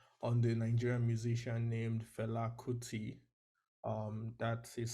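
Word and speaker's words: Fela Kuti: writing a dissertation on the Nigerian musician named FTI um that is spelled f f e l a k u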